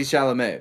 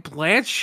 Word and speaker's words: Chalamet: isn't that how you say it Charlemagne Timothy chalamet the god Blanchette yeah have you been saying Blanche this whole time I haven't yes why it's